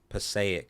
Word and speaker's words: Passaic: Passaic, I think is how you pronounce it.